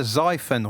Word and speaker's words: Xiphon: do you say that x i p h o n it's either zyphen or siphon but i'd say xiphon hell